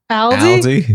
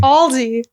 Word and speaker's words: Aldi: Ralph's I went to Aldi one time and I will never do that again how do you say it Aldi Aldi oh Aldi I went to Aldi